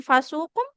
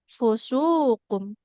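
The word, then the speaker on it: فسوق: Kemudian keliru harakat bukan fasukum tapi fusukum.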